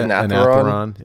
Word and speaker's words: Anetheron: I'm missing the Unravelers, how do you pronounce it? Anetheron.